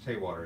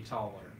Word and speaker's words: Tallwater: Along with us today, Morgan, as usual, and Chance Taywater. Is that the right way to say your last name? Close enough. How do you say it? I say Tallwater.